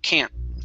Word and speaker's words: can't: But when I pronounce can't, it's a little more nasally. You hear it up here, right? Ca, can't, can't. Can't. Uh-huh. Can, ca, can, ca, can't. Okay, so I move that vowel sound a little bit further up in my mouth. Okay, then I also do not pronounce the T.